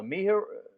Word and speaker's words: Miharu: Miharu or Yeah, Imaru? Miharu. Yeah.